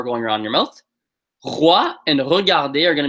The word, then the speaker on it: roi: a couple reasons because this is a r versus the r. So it's not roi, but roi, right? Roi, regarder. I'm exaggerating so you can hear it, right?